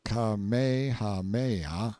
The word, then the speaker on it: Kamehameha: the cloud rack when kamehameha pronounced kamehameha the great who was